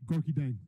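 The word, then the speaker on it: Gorgui Dieng: Gorky Dang. There you go. So just sound confident with it. Absolutely. All right, and so Devin Booker, Gorky Dang.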